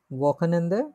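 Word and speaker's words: Wochenende: উচ্চারণ করি তো আমরা ওয়াকেনেন্দে, এটা একটু জটিল আছে।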